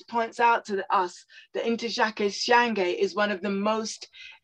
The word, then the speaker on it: Ntozake Shange: How do you pronounce that? Ntozake Shange.